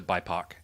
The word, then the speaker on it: BIPOC: There's also a move towards using um uh it's shortened to bipac. Well, I've never said that out loud, so I assume that's how it's pronounced.